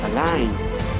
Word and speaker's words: align: See, the G letter is not pronounced when it comes before N in a word.